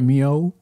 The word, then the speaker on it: MEOVV: of that nature man okay moo that's how you say it right moo moo with the V silent I'll